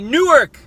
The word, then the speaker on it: Newark: But we say in the Southern Jersey, we say Newark. Because we pronounce our syllables. We enunciate.